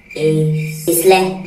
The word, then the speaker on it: isle: Okay, pronounce this word. Isle.